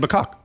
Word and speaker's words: macaque: yeah it's a macaque yeah okay i wasn't saying it right no i'm a cause